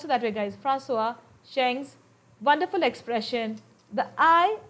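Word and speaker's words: François: Far from being lost or oppressed by the lofty peaks, he is, in Francois, and you pronounce it that way, guys, Francois Cheng's wonderful expression, the eye of the landscape.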